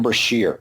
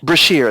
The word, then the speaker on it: Brashear: Adam Beskar? How do you pronounce it, I Professor? thought it was Adam Brashear, the Blue Diamond. Brashear, that's his name.